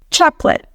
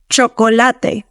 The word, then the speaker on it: chocolate: Chocolate. Me encanta el chocolate. Next word. Banana. Banana. The schwa is present in that last A. Now, pronounce it in Spanish, making sure you articulate it fully.